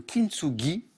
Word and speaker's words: kintsugi: On va parler de cet art qui s'appelle le kintsugi. Est-ce que je prononce bien, Mathias?